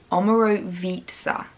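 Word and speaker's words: Omorovicza: and on the note it says pronunciation omero vitza so there we go omaro pizza and they have literally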